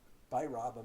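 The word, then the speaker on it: Bhairava: good point amongst them the v is not pronounced with a v i mean the v is not v it's a b so so they say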